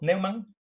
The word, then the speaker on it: Neumann: Y curiosidad, ¿de dónde viene el apellido Neumann? Bueno, en realidad se pronuncia Neumann, porque es un apellido alemán.